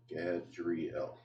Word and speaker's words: Gadriel: And that's how it's said, Gadriel. Gadriel.